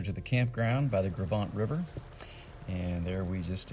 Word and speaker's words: Gros Ventre: middle of my red line the French words "gros ventre" that's how that's pronounced so it means big belly in French